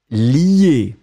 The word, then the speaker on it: lie: Donc, on le prononce li, mais on va l'écrire L-I-E.